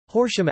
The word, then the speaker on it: Horsham: of Derbyshire pronounced Derbyshire Horsham after Horsham pronounced hor sham England Lancaster County and